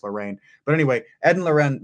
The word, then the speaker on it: Lorraine: Ed and Lorraine, I think her name is actually pronounced Lorraine.